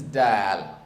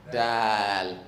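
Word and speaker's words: دال: This is Dal. I want you to pronounce it with that extension. Dal.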